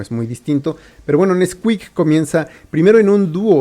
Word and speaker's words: NSQK: bueno este artista es nsqk se pronuncia Nesquik y es un regiomontano